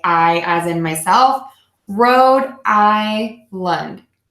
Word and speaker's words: Rhode: actually have a video, silent H here. So we would say road, like where you drive your car. Road, I, like my I, or if I were to say I as in myself, Rhode Island.